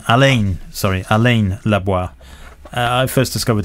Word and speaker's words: Alain: is greatest i don't know if i'm pronouncing it right french photography a friend of yours so i first discovered alan alain sorry alain i first discovered his work years